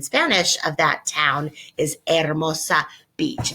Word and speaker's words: Hermosa: We pronounce it like that in English, don't we? Hermosa Beach. Well, that really means beautiful beach. So the proper pronunciation in Spanish of that town is Hermosa Beach.